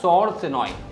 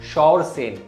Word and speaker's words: शौरसेन: हैं जिनका नाम था सौरसेनोई। अभी सौरसेनो क्या है? इट इज़ a miss pronunciation of शौरसेन।